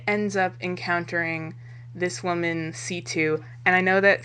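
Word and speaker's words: C.C.: up encountering this woman situ and I know that some people call her CC because that's how it's spelled but in the english dub which is all i've seen she goes by c2 so that's a lot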